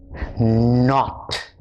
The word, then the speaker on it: knot: Your K is silent. The sound is not kn. The sound is n. So the words that we did in this little story are no, knock, knob, knit, knot, knife, knee.